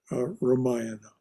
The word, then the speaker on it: Ramayana: And that's how it's pronounced, by the way, Ramayana.